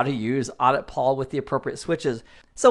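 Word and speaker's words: auditpol: server is a tool called audit Paul which is spelled Audi Pol and the extension is an executable.exe so we'll type in audit Paul press enter and that's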